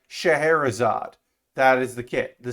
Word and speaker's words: Scheherazade: the cerave gundam shahrazad it doesn't look it's not said how it's spelled so but i was corrected on thursday that it's shaharazad uh so i will say shaharazad that is the kit